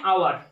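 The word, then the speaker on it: hour: তো দেখুন এখানে আওয়ার আওয়ার লিখেছি, তো আওয়ার শব্দটার উচ্চারণ শুরু হচ্ছে বাউল লেটার দিয়ে, ও দিয়ে শুরু হচ্ছে, যার জন্য এখানে এন ব্যবহার করব।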